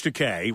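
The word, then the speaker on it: Takei: So, you know George Teay rhymes with I'm gay as he said, right?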